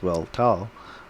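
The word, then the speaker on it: Weltall: i'm not that favorite german word weltal pronounced well tau meaning universe i need to remember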